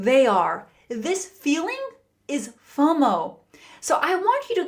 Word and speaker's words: FOMO: Have you Have you heard of FO M O? FOMO. FOMO, pronounced fomo, is a common online acronym which stands for fear of missing out.